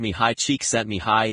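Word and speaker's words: Csikszentmihalyi: Mahali C6 and Mali, pronounced mih high cheek set mih high is a Hungarian psychologist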